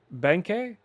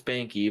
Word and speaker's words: Benke: Is it Benke? Uh it's Benky, but you can say it however you like.